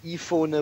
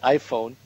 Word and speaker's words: iPhone: that comes from English you don't don't say eona but you say iPhone uh in in a